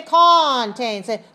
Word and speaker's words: contains: look look at me don't say contain say contains contain very small first syllable very weak contains contains a variety